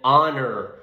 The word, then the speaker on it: honor: you buy me an honor onion so two adjectives that both begin with h but the pronunciation is completely different holy and honor so i'm not pronouncing the h therefore we consider this